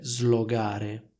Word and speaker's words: slogare: essere il verbo slogare sentite la differenza tra slogare e slogare in italiano la pronuncia corretta è slogare questo errore viene fatto